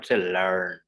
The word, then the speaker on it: learn: is lan one again r is before and so we will not pronounce r you know learn so basically it is